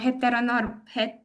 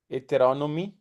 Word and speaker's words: heteronomy: I keep forgetting the word heteronorm. I keep mispronouncing it. You remember, Alexandra? No? Heteronomy? Yes. Okay.